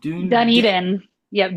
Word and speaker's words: Dunedin: She mentioned the sunscreen festival, and she mentioned I'm going to pronounce it wrong, but D- uh, Dunedin. Yep, Dunedin.